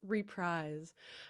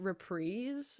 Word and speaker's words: reprise: yeah I started my first band called Waltz reprise um even though I later learned that it's pronounced repre so we just like had a name that